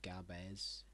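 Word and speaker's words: Gabès: last hold out but gabz gabes Gab they might change your name since because a French pass but it's pronounced gab pretty sure gab yeah it's gab unless Zen no it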